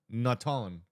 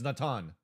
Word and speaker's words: Natan: Wolverine when he 80 tell me how to pronounce naton baton naton so it's Natan oh he is right